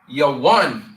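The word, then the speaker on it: Yavan: And we will pronounce their name in the Hebrew, Yawan.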